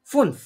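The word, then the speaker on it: fünf: এটা আমরা ডয়েচে এটাকে কি ফুনফ। বলবো? ফুনফ। ফুনফ। এফ U umlaut and এফ, এটাকে কি বলে? ফুনফ।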